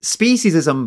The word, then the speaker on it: speciesism: what you've just done speciesism by the way that's how you pronounce it it isn't this wacky